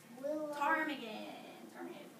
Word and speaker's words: ptarmigan: Ptarmigan. Remember the piece sound? It's spelled weird.